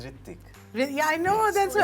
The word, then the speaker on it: Ritwik: The pronunciation of your name. is Ritik.